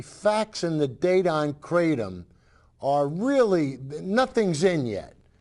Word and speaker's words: Kratom: The FDA warns that Kratom can be addictive is how you say that word, and life-threatening too.